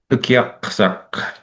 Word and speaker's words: Ukiaksak: The best way to pronounce this is when you see a K, you go K, and when you see the Q, you go P. The P is from in here, and the K is the K up in the mouth. Ukiaksak. And then when you see the double A, it's kind of a long A. That's how you sort of learn how to pronounce these words.